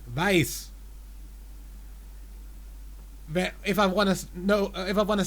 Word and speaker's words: weiß: Yeah, because if it's the one coming from wissen, I think we pronounce the EI shorter.